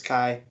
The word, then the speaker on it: Chi: Is it Chi? Is that how you pronounce it? Well, I'm going with the Greek. That's where it comes from. Is Chi.